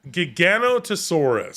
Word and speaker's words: Giganotosaurus: an actual dinosaur and it was a soft g like jog jogging yogan it was gigan giganotosaurus yeah we should call